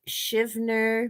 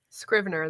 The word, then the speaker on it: Scrivener: I have Shivner managed to actually plot a couple stories, but still not started. Now, did I pronounce that wrong? Scrivener. There's an R. Thank you. The R in there.